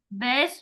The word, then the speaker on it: bass: So the next one is bass is a variety of spiny, fin, freshwater and saltwater fish. In this sentence, bass rhymes with grass.